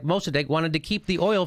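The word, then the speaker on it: Mosaddegh: First democracy, and Mossadegh is how you say it.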